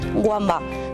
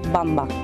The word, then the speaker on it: Wamba: sumario mucha gente dice wamba pero la w hermana se pronuncia como la b sería bamba ninguna ninguna mujer gitana